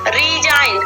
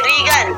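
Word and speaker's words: resign: Next example देते हैं second वाला, रीजाइन। अब इसे नहीं पढ़ेंगे रीगन, ठीक है, रेगन नहीं पढ़ेंगे, इसको हम क्या पढ़ेंगे रीजाइन पढ़ेंगे, ठीक है।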